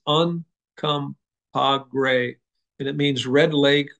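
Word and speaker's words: Uncompahgre: really phonetic you you look at it you pronounce it it's uncom gray and it means Red Lake or Redwater spring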